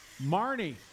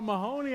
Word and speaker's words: Marnie: So I've been saying your name wrong. Marnie. Okay, I'm sorry about that. I saw Mahoney.